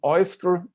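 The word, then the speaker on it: OISTR: a long word uh it is abbreviated with this abbreviation oyster which is usually pronounced like like the oyster um and it came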